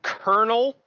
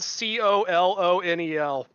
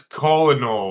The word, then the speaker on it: colonel: Why do we pronounce it Colonel when it is spelled C O L O N E L? There's no R there. That's That's colonal.